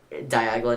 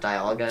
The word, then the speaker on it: Dialga: Diagla, not Dialga.